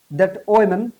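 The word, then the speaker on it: omen: ফুল মুনটা দেখলাম উই টুক ইট টুবিডশ এটার উচ্চারণ এখন করবেন আপনারা ওমেন অফ আওয়ার সেফটি এটা ওমেনের মত উচ্চারণ কিন্তু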